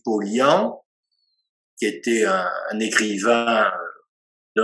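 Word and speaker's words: Paulhan: Ensuite, il fait référence, ça s'écrit Pollan, mais paraît-il on dit Pollian, qui était un écrivain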